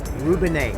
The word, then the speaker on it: Rubinette: Rubinette. It's Italian, short abbreviated for rubinetteria, which means faucetry in Italian.